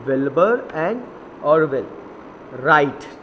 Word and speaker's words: Wright: Wilbur and Orville राइट. अब देखिए इसको राइट नहीं पढ़ेंगे, इसको हम क्या पढ़ेंगे? राइट. ओके, डब्ल्यू इधर क्या है? साइलेंट है, तो हम पढ़ेंगे Wilbur and Orville राइट build uh large glider.